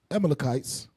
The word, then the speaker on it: Amalekites: Amalekites.